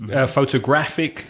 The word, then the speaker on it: photographic: Yes, if they end in IC, it's probably going to be that penultimate syllable stressed. Well spotted. Yeah. So I see photographic, geographic, pornographic, psychiatric is another one.